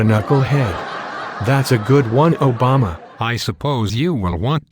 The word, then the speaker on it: Obama: Canon yes of course and my name is pronounced Obama that's what I said Obama oh never mind you mean Frank cannan is